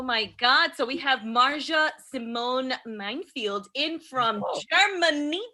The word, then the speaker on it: Marja: And it's pronounced Marja, is that correct? Marja, yes.